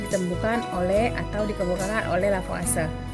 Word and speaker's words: Lavoisier: oleh atau dikemukakan oleh lavase jadi bacanya lafaz Raya Nah suku Kekekalan